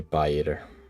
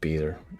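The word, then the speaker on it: Pieter: you can call me pie eer I like that although it's just pronounced beer as if you would write it without the I and now we've gone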